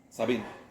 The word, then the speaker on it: Sabin: Sabin, Argentina decimos Sabín, pero es Savin.